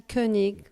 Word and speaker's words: Koenig: Now, Koenig is Koenig. not how, spell it.